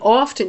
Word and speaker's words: often: So, I mean, it really interests me that in often you've got that silent T came back because people are seeing a T, and it's like, yeah.